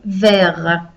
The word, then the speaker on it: verts: So then it becomes deux cahiers verts. The T again is silent like before because it's only with the E that we make it not silent.